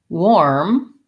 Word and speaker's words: warm: Warm, if I think about the word wore, like I wore my clothes, or the word war, we went to war, and then I add an M, I'll have it.